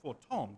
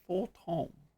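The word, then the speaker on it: Fortemps: Never let it be said that house for Tom does not acknowledge the efforts of her allies or her deaths. House for Tom keep wanting to pronounce the uh Ps is Tom.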